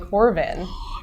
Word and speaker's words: Corbin: Yeah, Corbin.